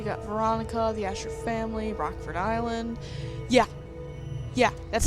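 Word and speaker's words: Rockfort Island: during the prologue um the announcer guy said rock fort island and there was a space in between so it was like capital r rock and then capital f4 but it's rockford island yeah that's how it's pronounced because it is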